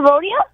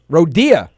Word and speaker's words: Rodia: the background in a rodeo well you said my name wrong but yack Rodya who's this why what's